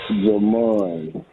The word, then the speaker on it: Jamon: Jon in Dallas now Jon or Jamon let's make sure we're getting this right I feel like I asked you this because you call frequently but I asked Jesse cuz he pronounced it differently this time so let's get once and for all your name is jaman jaman yes all right I can't